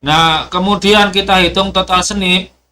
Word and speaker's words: SNP: kemudian kita hitung total snip SNP yang bacanya snip tuh per hapl grup